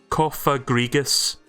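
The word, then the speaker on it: Cofagrigus: It actually tells you how to pronounce it. Cophagregus. Right, I've been saying that right.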